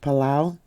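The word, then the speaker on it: Palau: Mariana Islands and Apollo actually that might be pronounced palao yeah sorry about that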